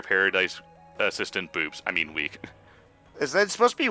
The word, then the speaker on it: Wicke: At the same time, though, I saw her name, and I know it's pronounced Wick, and I was like, they're just missing a D, and it'd be Wicked.